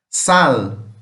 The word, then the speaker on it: sal: A única diferença é na hora de pronunciar. O nosso sal em português nós falamos como se fosse um som mais de U. Em espanhol realmente seria mais o L mesmo.